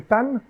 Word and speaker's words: Tan: dit je m'appelle Monsieur Tan, vous pouvez savoir d'office en fait c'est Monsieur. Donc tout simplement parce que effectivement en hokkien le son CH ne se prononce pas. Il se transforme en T.